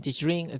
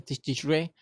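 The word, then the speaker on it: תשרי: Bueno, la pronunciación es, algunos le ponen Tishri, otros le dicen Tishrin, Tishre.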